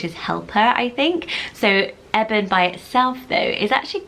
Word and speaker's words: Eben: It sounds a bit like Evan. Some people may pronounce it Eben, but I think the correct pronunciation is Eben because it's shortened form of Ebenezer.